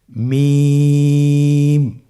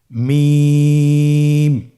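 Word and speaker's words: ميم: থেকে হরফটি উচ্চারিত হয় দুই ঠোট চেপে ধরে আমরা উচ্চারণ করব মিম আবার বলুন মিম আলহামদুলিল্লাহ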